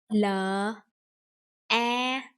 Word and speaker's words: la: L, A. Together, that is la. La means when you shout at someone. La.